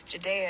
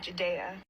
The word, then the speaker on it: Ja'Dayia: right because that's my name my name is Judea and that's what I want to be called Judea well that's just really interesting to me because